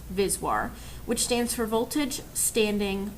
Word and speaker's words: VSWR: applications include insertion loss return loss or vswr pronounced viswar which stands for voltage standing wave ratio and